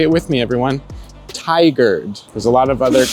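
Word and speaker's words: Tigard: Portland called Ty say it with me everyone tiger there's a lot of other common mispronunciations of that word but you got to learn it here and now tiger practice tiger all right so brunch is definitely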